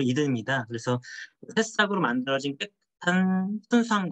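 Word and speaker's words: Eden: 저희 새싹이든 브랜드는 새싹이 들어있다는 의미도 있지만 그 이든이 미국식 발음으로 LN이라는 게 LN 동산을 말하는 게 미국식 발음으로 이든입니다.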